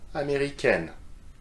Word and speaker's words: américaine: So if you add the extra E for feminine, it becomes N, just like the letter N, okay? So let's repeat the examples together. Américain, américaine.